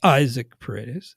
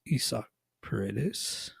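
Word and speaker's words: Isaac Paredes: playing time for isak that is how it's pronounced it's not Isaac parades it's Issa peritis Cody Bellinger finally off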